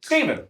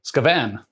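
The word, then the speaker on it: Skaven: and Tim is playing scaven scaven I think is how it's pronounced there's so many different ways people can say scaven um so yeah we're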